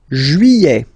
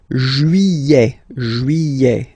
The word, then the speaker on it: juillet: Juillet. Okay, you get this double L here. Juillet. Don't pronounce this final T, E-T here at the end. Juillet.